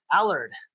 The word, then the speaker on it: Allard: you how do you say your last name Allard Allard great yep you had it right and what's